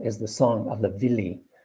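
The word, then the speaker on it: Willi: the song of the villi w-i-l-l-i pronounced with a v none of these women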